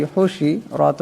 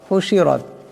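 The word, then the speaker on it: حُشِرَتْ: হা পেশ হু, শিন জের শি, হুশি, রাত জবর রাত, হুশিরাত। এখানে রাকে মোটা করিয়া পড়বেন।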